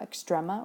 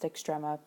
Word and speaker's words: extrema: So now we're going to talk about extrema or extrema. It's usually pronounced extrema. Either one is fine.